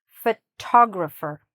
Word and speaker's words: photographer: "Photographer", "photographer". Where's the stress? Here.